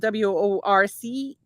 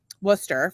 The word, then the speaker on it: Worcester: So if you're not from Massachusetts, Worcester is spelled WORCESTER. Very good. And it's pronounced Worcester for the rest of us, but if you're from Worcester, it's Worcester with an H on the end, because in Massachusetts we don't use the letter R.